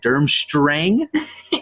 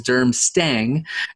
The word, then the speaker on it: Durmstrang: on a couple things you corrected me on the pronunciation of durmstrang which I thought was derm sting and I'll be honest